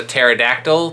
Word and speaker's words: pterodactyl: I know this is a pterodactyl. P is silent.